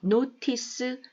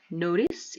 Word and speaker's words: notice: Noice notice 이렇게 발음 많이 됩니다. 물론 북미권 발음입니다.